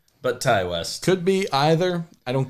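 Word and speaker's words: Ti West: West I believe is how it is officially pronounced okay it's not T West but Ty West could be either I don't care you make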